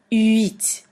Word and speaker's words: huit: With pronunciation on the 8, 8, many people pronounce it like wheat, as in wheat bread, but that's not it. You really have to pronounce the U and then the I, U, I, huit.